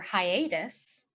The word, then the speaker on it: hiatus: example you could say after your hiatus be sure to say hi to us after your hiatus be